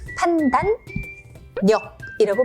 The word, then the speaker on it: 판단력: 그래서 역시 니은, 리을인데도 판단력이라고 발음이 되는 거죠.